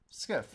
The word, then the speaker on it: SCIF: Uh like left verse right, you know, it's pronounced skiff, right?